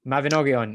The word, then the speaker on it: Mabinogion: So that's like Mabinogion. I don't know how to pronounce it. Mabinogion, yes.